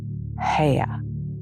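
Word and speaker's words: Haigha: happy his name is hea he pronounced it so as to rhyme with mayor I love my love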